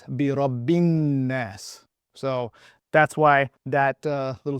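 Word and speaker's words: بِرَبِّ النَّاسِ: that right now, that this letter here, essentially, for the most part, just so you know, is not really being pronounced. Neither is this letter, and neither is this letter. So what we end up reading is Birabbin-Nas.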